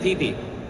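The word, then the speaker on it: Pipi: It's spelled P-I-P-I, Legend of Pee-Pee.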